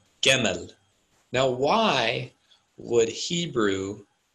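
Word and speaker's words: גימל: It's actually pronounced Gemel.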